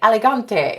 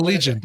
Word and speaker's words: Allegiant: And here's what's funny is every time I say it wrong, I say elegante, and that's not. Oh, Allegiant. Okay. Allegiant. Thank you.